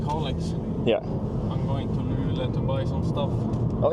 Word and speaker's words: Luleå: Most people don't say the O in the end. We just say Luleå.